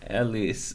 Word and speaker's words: Elias: gonna find wait with I read the name wrong oh it's Ellie's so Elias it is and we're going to